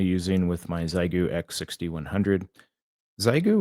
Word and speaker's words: Xiegu: Zyu or Shigu. I think it might be pronounced Shigu.